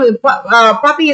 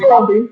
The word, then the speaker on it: Papee: So that's why he's like, it's spelled when I end up saying it with the Spanish accent, he's like, I like that one. But you still carry that Papi swagger. Right? Yeah. I'm not explaining Big Papi.